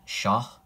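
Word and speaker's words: شاه: with that you could write sha which means king and it has this H sound at the end sha and then um you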